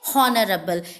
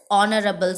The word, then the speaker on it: honorable: You never say honorable. It is not honorable, it is honorable.